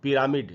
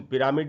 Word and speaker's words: pyramid: बड़ा interesting word है, इसको अक्सर हम लोग पिरामिड ऐसे पढ़ लेते हैं। इसका प्रोनाउंसिएशन पिरामिड नहीं होगा, इसको हमको पढ़ना चाहिए पिरामिड। र के बाद आधा अ है, तो र पर थोड़ा सा रुकेंगे और उसको हम पढ़ेंगे पिरामिड।